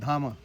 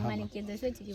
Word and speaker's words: Dama: Even though while writing we write D-A-M-A, Dhama. But actually pronunciation is Dhama. So Dhama is around 2.5 years old.